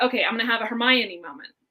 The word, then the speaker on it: Hermione: forget who and they're talking about how to pronounce her name it's Hermione and so I thought okay I'm gonna do